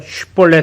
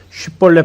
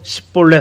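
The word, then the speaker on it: 쉽볼렛: 요단강에서 쉿볼렛 해봐 했다가 쉿볼렛 발음 못하고 십볼렛 하니까 아주 그냥 처단했던, 몇만 명을 죽였던 아주 그냥 불같은 사람, 그 사람 입다입니다.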